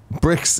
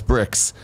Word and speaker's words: Brix: D now biology says Brix is pronounced as bricks and is the sugar